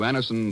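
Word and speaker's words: Anacin: dentist thousands of people have been introduced to Anison this way try Anison yourself the next time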